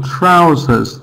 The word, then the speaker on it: trousers: For example, trousers. The sound stressed vowel sound is ow.